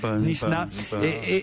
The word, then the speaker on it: Knysna: J'ai jamais su vraiment prononcer le nom de l'endroit où ils étaient. Knysna, Jérôme, on doit dire. Knysna.